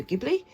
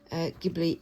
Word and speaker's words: Ghibli: I know that there's a sort of standard way of saying, Japanese sounds, and from what I understand, the ge sound or g sound is a hard G.